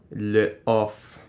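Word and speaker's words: L'Off: of it once more Le off the festival as in the in French apostrophe off yeah not on it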